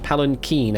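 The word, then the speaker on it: palanquin: Is it Palen Keen? Palen Keen actually, not a queen.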